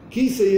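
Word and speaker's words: כסא: Kisei es tres letras. Jof, Samach, Alef. Así se escribe Kisei.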